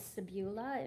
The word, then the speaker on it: Sabula: The town's name was Sebula. It means sandy beaches. It's in an American Indian language that was close to where I grew up, or what was formerly there. And it's spelled Sabula, and it's an island on the Mississippi River.